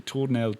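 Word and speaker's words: Tournelle: the pond toell the Pont La Torell is how maybe you'd read it phonetically Torell t o u r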